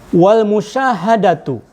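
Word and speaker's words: والمشاهدة: Kemudian yang berikutnya Sobat Ngariksa, wal musyahadatu. Ini mubtada muakhir lagi. Wawunya waw atof ke al-mukasyafah, jadi pembacanya wal musyahadatu.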